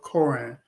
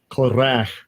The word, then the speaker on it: Korah: And book 2 introduces the first group of Psalms by the sons of Korah. Oh, that's not how you pronounce it.